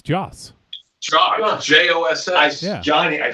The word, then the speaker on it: Joss: Joss. Why do you have to say it like that? Johnny, tell him. Because he used to call him Josh Whedon. And Okay. we corrected him.